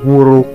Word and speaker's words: Wuruk: hanya hilang Nah sekarang Jadi dibacanya Wuruk ya Nah contoh penggunaan ini dibaca sih yang Hayam Wuruk yah pemirsa ini adalah